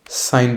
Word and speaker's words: sin: Okay, short में हम साइन बोलते हैं, SIN। प्रोनाउंसिएशन में बोलने में कोई डिफरेंस नहीं है, बट जब हम शॉर्ट फॉर्म में लिखते हैं ना तो ये ई हट जाता है।